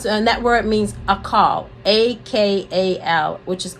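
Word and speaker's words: אכל: yeah it comes to a net word means a call a-k-a-l which is a call that's how it's pronounced it means to eat get this that's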